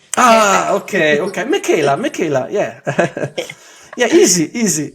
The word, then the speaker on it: Meckela: my podcast I have NPC women's physique athlete Michela hi Michela did I did I pronounce correct you did you know what you're the first person that actually does pronounce my name ah okay okay Michaela Michaela yeah yeah easy easy yeah it's easy